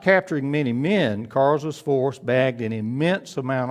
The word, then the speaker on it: Karge: sent Joseph Kars's brigade, and that's spelled Karge', and I want you to know that I got that pronunciation from Dr. John Marzalek, and since he's of Polish descent, and Karza was Polish, I'm going to trust his pronunciation. I'd been saying Karge', that's not correct.